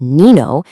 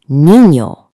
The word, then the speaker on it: niño: It tells you to make a ñ sound. You already know the sound. It's the same one you hear in the middle of the word canyon. So this word here isn't nino, it's niño.